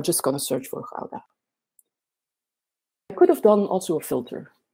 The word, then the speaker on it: Gouda: It's pronounced Gouda. So now you can all try at home, say after me, Gouda.